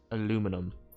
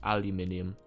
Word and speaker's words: aluminium: Or was I saying aluminum and it's pronounced aluminium and I was told I was being too American by saying it the other way but it's easier to say you know right Sentinel Corp.